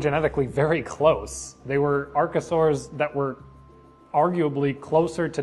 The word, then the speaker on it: archosaur: been pronouncing that wrong I keep saying archosaur but it's archosaur which makes complete sense because of the word route I just never thought